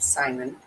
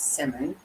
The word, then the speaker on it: Simon: I think we have I had it wrong I was calling him with Simon and it's Simmon so we're going to